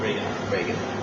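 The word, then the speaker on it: Ragan: How to pronounce it? Chuck Reagan. Reagan. Like president. Yeah, like Ronald Reagan.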